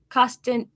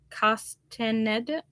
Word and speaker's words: Castaneda: she also says the root Witch by Deborah costen oh Castaneda I'm gonna spell it for you guys c-a-s-t-a-n-e-d-a Castaneda there now